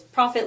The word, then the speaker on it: Proffit: with it and uh so it's profit like me making money but it's actually spelled with two FS I like to joke